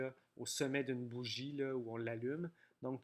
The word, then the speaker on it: bougie: Bougie. Dans bougie, il y a un G doux qui fait J devant le I. Il y a un E muet à la fin qu'on n'entend pas.